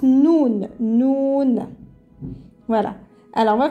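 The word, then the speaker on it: نون: prononce comme ça noun pardon je vais la crire en français pour savoir comment ça se prononce ça fait noun comme ça on prononce cette lettre ça se prononce noun noun voilà alors on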